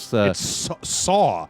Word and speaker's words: Saul: It's Saw. Saw. SAW.